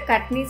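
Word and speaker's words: Kachni: compulsorily outlined in black the next is the cutney style that is how that word is pronounced where we do lot of line work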